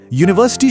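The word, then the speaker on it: university: देखिए यूनिवर्सिटी शुरू तो यू से होता है जो एक वोवेल है लेकिन इसकी आवाज य की है। यू ये एक कॉन्सोनेंट साउंड है।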